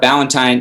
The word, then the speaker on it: Ballantine: And just so, Morning Upgrade's pretty easy, but Ballantine, it's spelt like Valentine, like Valentine's Day, correct? But it's just with a B in the beginning. Well, it sounds like that. It's actually spelled like the beer.